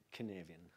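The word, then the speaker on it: Cynefin: composto da Caos complesso ca si pronuncia kaven che gaelico quella roba lì salutiamo comunque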